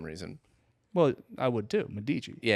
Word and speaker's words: Medici: Medici. Yeah. Yeah. Yeah. I'm also maybe saying the name wrong. No. Medici's right.